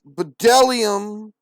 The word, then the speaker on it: bdellium: good there is jello bdellium in the onyx stone bd the b is silent of and the onyx